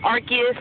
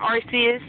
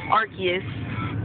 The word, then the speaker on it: Arceus: they have anything new um and it is pronounced Arceus not Arceus a couple people have been comments you know it's Arceus that's the correct way to pronounce it RCS is just a little bit more convenient but